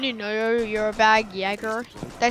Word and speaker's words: Jaeger: Jaeger?